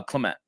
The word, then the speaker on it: Clement: um you know Clement Clemens, right? Clemens is how you say. Uh Clement.